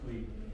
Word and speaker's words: Huy: Hui. Huy?